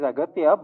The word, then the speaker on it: Aghathiyaa: It is Aghathiyaa, but in the film, your name is pronounced in different ways. Agastya. Yeah. Yeah. In both ways, it is pronounced. Yeah, it's Aghathiyaa and also Agastya. So I don't know.